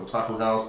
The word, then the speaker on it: Otaku X House: But again, it is actually pronounced Otaku House, but gotta add the X in there.